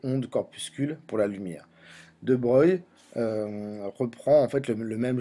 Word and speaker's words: de Broglie: a poussé de breuil alors on l'écrit de broglie mais ça se prononce de breuil à émettre une nouvelle